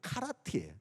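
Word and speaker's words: כרית: 근데 우리는 그릿이라고 하지만 히브리어 원어 발음으로 하면은요, 이것은 카라트예요.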